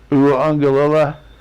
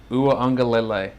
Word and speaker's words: Uiagalelei: Pronunciation on Clemson's quarterback's name, DJ Uiagalelei. Uiagalelei. Uiagalelei. It's good. DJ. I think I saw a clip with him saying, a lot of people just try to say ukulele, obviously because of where he's from.